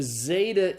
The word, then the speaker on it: zeta: a simple Z sound so Zeta is the Z sound pronounced like the Z in days the next letter is